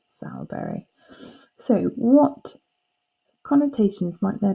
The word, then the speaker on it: Sowerberry: be s aur but it would be pronounced sour berry so what connotations might